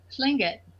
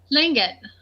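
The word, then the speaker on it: Tlingit: drive oh nice and what's your tribe again sling it what is it fling it okay how do you spell that t-l-i-n-g-i-t oh okay see I thought you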